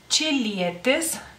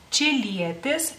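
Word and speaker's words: čilietė: Y bueno, en singular en masculino es chilietes, chilietes, en singular en femenino, chiliete. Chiliete, la che, se escribe de otra manera, chéquenlo en la pantalla, o sea, en lituano se escribe de otra manera.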